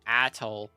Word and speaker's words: atole: Was like, "You pronounced it wrong. It's atole."